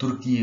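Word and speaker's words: Türkiye: दोस्तों टर्की की जो इंग्लिश में स्पेलिंग है उसमें थोड़े से चेंजेस किए गए हैं, और इसे अब तुर्की पढ़ा जाएगा, यानी TURKEY, ये तुर्की नाम रखा गया है नया टर्की का।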